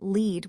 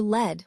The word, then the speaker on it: lead: It can be pronounced lead when referring to leading a group, or lead when talking about a type of metal.